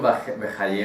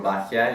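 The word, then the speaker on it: Bahya: Rabbeinu Bejaye o Rabbeinu Bajia, y creo que hay una tercera pronunciación incluso de este nombre, pero no me acuerdo de esa tercera pronunciación.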